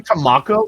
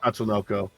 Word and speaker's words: Tatsunoko: Did you just say Tamako versus Capcom? I said it wrong. You said Tamako versus Capcom. Yeah. You meant The mech. you meant Tatsunoko.